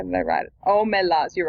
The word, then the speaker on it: Omelas: Omelas. I think I wrote how it was meant to be pronounced. Hang on, how did I write it? Omelas, you're right.